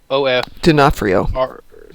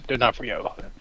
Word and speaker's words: D'Onofrio: How do you spell it? D-O-N-O-F. D'Onofrio. D'Onofrio.